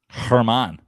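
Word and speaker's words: Germán: How's it pronounced? Do we know? Herman. There we go. Not even close. Oh yeah, because he's Dominican.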